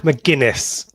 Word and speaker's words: McGuinness: As soon as I got to work, I wrote out the phonetic pronunciation to make this easier on myself. Brilliant. It's Mark McGuinness.